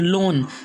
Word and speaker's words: loan: अगर ओ के बाद ए आ जाए तो ए क्या रहेगा? साइलेंट रहेगा। जैसे कि पहला वर्ड्स है बोर, BOAR बोर, यहाँ ए साइलेंट है। जैसे कि LOAN लोन, COAL कोल, FLOAT फ्लोट,